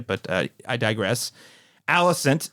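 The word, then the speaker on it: Alicent: name we were saying alient I mean it does look like Aliant I will say but I digress Allison is how the characters in the show pronounce her name so it is Allison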